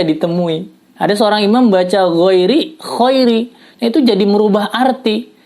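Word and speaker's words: غَيْرِ: masih tidak merubah arti yang berat ketika membaca Khairi nah ini ada ditemui ada seorang imam membaca ghairil Khoiri itu jadi merubah arti sehingga akibatnya bisa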